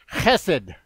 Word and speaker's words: chesed: This word mercy is a translation of a Hebrew word chesed, which that I get at that in the back of your throat.